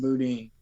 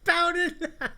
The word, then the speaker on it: boudin: It's like, yeah, I'll get a packet of or I'll get one of those boudins. Bowden. I was like, a what? That is so way off.